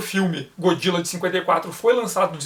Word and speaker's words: Godzilla: Então eles olharam para aquela palavra, Godzilla, mas acharam que o D fazia parte da primeira sílaba e não da segunda, e começaram a pronunciar como Godzilla. O surgimento da pronúncia Godzilla foi um acidente de transcrição.